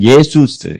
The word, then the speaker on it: 예수: 발음은 예슈아 예슈아 그리고 헬라월은 예수스 예수스 이렇게 불렀습니다. 그래서 예수인데 뒤에 쓸자 발음이 잘 안 들려요. 그래서 잘 멀리서 큰 소리 들으면 예수만 들립니다. 어 발음이 예 길게 뽑고 수는 약간 작습니다.